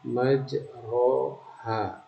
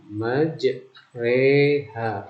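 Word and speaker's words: مجراها: Tertulis di sana majroha, tetapi membacanya majreha. Ingat rohnya tipis.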